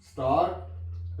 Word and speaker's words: scent: तो ये स्टूडेंट्स सिर्फ ब्रिटिश और ऑस्ट्रेलियन लैंग्वेजेस में हम ये साउंड लेंगे, का, डॉक्टर, बेटर, बिगर, stranger, air, poor, start, rare.